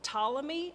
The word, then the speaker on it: Ptolemy: interested in are one of them is called Ptolemy except it's spelled with a P potala me he's from